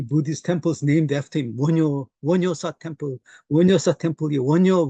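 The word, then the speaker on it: 원효: thought in Korea is Wonyo. I don't know if I'm pronouncing that correctly. That's correct. Correct pronunciation. Wonhyo.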